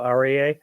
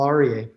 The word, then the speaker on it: Aryeh: I'm here with arier and I'm sorry I'm I'm sure I'm mispronouncing your name do you want to go ahead and share it with us you said it perfectly AR okay great so you